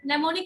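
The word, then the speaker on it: mnemonic: और नेमोनिक का मतलब ये एम से स्टार्ट है लेकिन एम साइलेंट है, तो नेमोनिक क्वालिटी होती है, क्योंकि इसमें हम लोग याद करने के बहुत सारे तरीके हैं।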